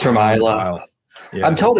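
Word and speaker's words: Islay: it's good stuff it's um from the from Isla right in uh in Scotland it's from Iowa I'm told it's Iowa but I've been pronouncing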